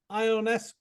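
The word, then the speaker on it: Ionescu: caught it I'm quiet all right so Sabrina ionesco did I say it right you got it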